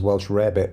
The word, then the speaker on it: Welsh rarebit: bacon and eggs and Welsh rabbit, which is actually cheese on toast, though I remember it being pronounced and spelled as Welsh rarebit growing up, but whatever.